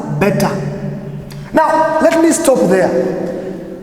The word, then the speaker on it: beta: you say for example when you pronounce you will pronounce it as bad but when you say it in the greek way it is known as beta now let me stop